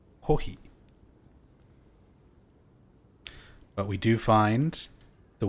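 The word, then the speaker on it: コーヒー: Kohi is how you say coffee in Japanese. Kohi.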